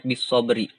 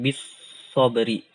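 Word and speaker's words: بالصبر: Contoh gini, ini ada kalimat bisobri. Maka yang akhirnya juga harus kita sukunkan. Cara membacanya bisobr. Bisobr. Ya, bisobr. Bukan bisobri, tapi bisobr. Nah, contohnya juga ini ada fajr.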